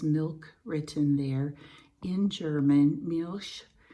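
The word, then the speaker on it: Milch: written there in German Mich is how you pronounce it in German and then this Farm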